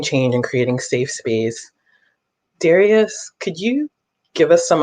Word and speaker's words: Darius: my name is Darius it's pronounced Darius but in a rehearsal room it could be pronounced four different ways sometimes sometimes I'm referred